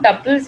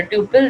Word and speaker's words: tuple: और रो को हम टपल्स भी बोलते हैं, okay, call it अ टपल और अ ट्यूपल, द वे you want to pronounce it, okay, and you can